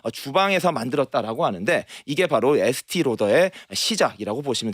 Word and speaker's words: 에스티 로더: 라우더도 유럽식으로 발음하면 로더가 되는 겁니다. 그래서 이 프랑스 느낌을 나게 하는 게 목적이었다고 합니다. 그래서 에스더 라우더라는 본인의 이름은 에스티 로더라고 하는 자신의 이름으로 자신의 이름의 유럽식 발음으로 바꿔서 사업이 시작된 것입니다.